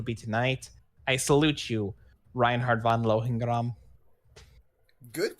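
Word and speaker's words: Reinhard von Lohengramm: I salute you, Reinhard von Lohengram. Good pronunciation. Oh, thank you. I like to think of myself as an Imperial at my heart. Yeah, it would have been more like Reinhard von Lohengram, but pretty much exactly that.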